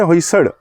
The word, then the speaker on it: होयसल: तो उच्चारण भी जो इसका है होयसड़, ला और ड़ा के बीच में, उत्तर भारतीय भाषाओं में यह अक्षर नहीं होता, मराठी में होता है।